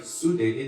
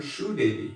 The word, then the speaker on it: Sudevi: Like in Bengal, they don't call my wife Sudevi, they call her Shoe Devi.